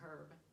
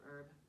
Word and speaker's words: herb: It's not even in this section, but the British actually say herb instead of herb.